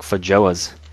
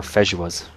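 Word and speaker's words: feijoa: It's like Fajoas. Or Fejuas, I believe they're pronounced.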